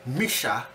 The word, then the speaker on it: Missha: or you know who one guy who's a black worker there told me I was mispronouncing it he says the name is really Misha or whatever the heck it's m i s ha